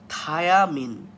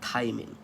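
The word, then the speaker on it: Thymine: আর যেটা nitrogen base, এর বানানটা কিন্তু থাই, THY, থাই, তারপর মিন, MINE। সো এখানে থায়া কখনোই হবে না।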